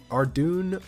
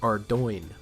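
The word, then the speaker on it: Ardougne: doing most of you may know it as our dune our Don are dug me but according to the jagex mods it is pronounced our join the dark beasts used to only be found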